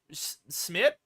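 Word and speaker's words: Szmyt: get into range for Smith, I think is how you say it. It's like S-Z-M-Y-T. I'm just going to go with Smith.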